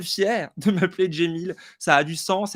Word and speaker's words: Cemil: bien locale et ben moi je m'appelle jemil mais ça s'écrit ses mille voix la cccd prénom en fait c'est un prénom qui d'origine arabe donc mais que mais qui s'écrit à la turque voilà et puis mon